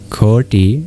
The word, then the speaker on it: koti: The t with a dot under it is retroflex meaning you curl your tongue backwards to pronounce it. So in ki you actually turn your